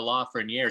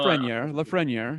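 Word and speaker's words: Lafrenière: a player like uh la franiere so what's that uh 62 and a half percent chance that la ferniere well and i i i'm i'm pronouncing his name incorrectly aren't i matt you're close enough close enough yeah you know la freniere yeah yeah but he's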